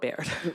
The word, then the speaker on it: Baird: Baird, how do you say it, Baird or Bard? I call it Baird.